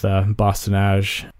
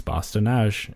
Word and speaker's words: Bosse-de-Nage: like that, because it's, I think in English you are inclined to pronounce the E's at the end of words, but it's a French word, so you generally don't.